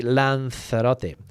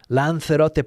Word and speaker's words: Lanzarote: Helen was in Lanzarote. Now, I'm going to say, I say Lanzarote.